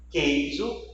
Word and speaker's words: queijo: Observe os exemplos. Guia, queijo, quilo. Você não escuta a pronúncia da letra U.